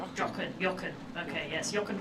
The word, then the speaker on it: Jochen: Now this is a Jochen in the German language would be pronounced. Jochen.